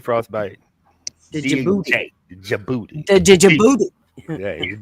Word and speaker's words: Djibouti: The Djibouti. Yeah, D is silent. Djibouti.